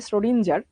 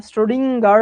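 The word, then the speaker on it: Schrödinger: স্টোরেজিং উচ্চারণটা খুবই বিদঘুটে নরমালি আমরা যকম বলি সডিঞজার ঠিক ওরকম না স্রোডিংার টাইপে জেনে কেমন উচ্চারণ করে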